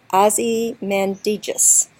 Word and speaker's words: Ozymandias: but yeah so I'm going to pronounce that word in four syllables Ozzie Mandy Jesus and the reason I'm doing that is because some people feel like in this poem it needs to have four syllables and that's because this